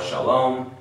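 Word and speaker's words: שלום: which is what sha so this letter Sheen gives me the S sh sound Sheen so I start with s h and then I look for the Vol underneath and it gives me what awesome so now I have sha okay the next part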